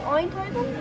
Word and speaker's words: Eindhoven: He's going to Eindhoven? Is that how you say it? Eindhoven?